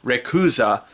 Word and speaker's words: Rayquaza: primal kyogre and mega rayquaza uh by the way uh fine uh seeing the romanized spelling of the japanese production pronunciation of rayquaza which apparently is rakuza seeing that written out